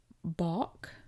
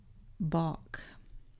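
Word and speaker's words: balk: Then we have Boach. Boach. Here's a word you could easily mispronounce because you do not pronounce that L.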